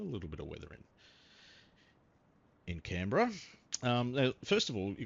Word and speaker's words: Canberra: Canberra. That's how Australians say it, or some of us say it.